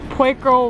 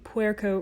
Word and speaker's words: Puerco: the traffic dried out quaker river yeah so excuse that really awful in the moment pronunciation i believe it should be puerco river as you saw in